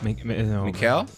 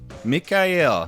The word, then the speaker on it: Mikhail: this uh meet mikael like mikhail gorbachev right yeah mikhail mikhail mikhail there is less of k and more more harassment